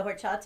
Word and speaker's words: horchata: english lessons too because the h is silent in spanish what's what's in horchata